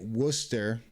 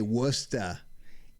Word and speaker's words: Worcester: good old Worcester Massachusetts it's spelled War sester uh you say it Worcester and if you're from here uh you say wora it's wora kid Wicked awesome guy yeahuh